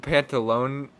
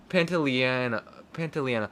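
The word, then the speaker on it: Pantoliano: Joe Pantalone or so, I forget how to pronounce his name. He's Pantaleano.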